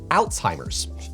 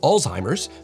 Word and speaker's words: Alzheimer's: was I oh yeah to be fair to the Brits their prononciation is actually the closest to the original as the word originated from the German neurologist who discovered it aloise Alzheimer what's ironic about this